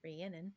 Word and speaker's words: Rhiannon: which I found out according to the what is it, the Audible version is how you pronounce it, Rhiannon.